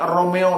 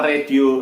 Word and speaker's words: Romeo: Huruf R mestinya diucapkan Romeo, akan tetapi sering kita dengar diucapkan dengan radio.